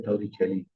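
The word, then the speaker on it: Torricelli: इसकी अगर आप गूगल में सही प्रोनाउंसिएशन देख लेते तो ये है टॉरिसेली, लेकिन इसको हम लोग पढ़ते हैं टॉरिसेली थ्योरम।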